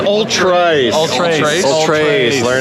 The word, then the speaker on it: Ultrace: Is it Ultra Race? It's Ultrace. Ultrace. Ultrace. Learn how to pronounce it.